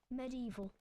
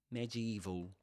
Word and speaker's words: medieval: Medieval. Dates unknown. Merlin. Medieval. That's a difficult word difficult word to pronounce. So this is medieval. Medieval, right? Or medieval. You can say medieval or medieval, right?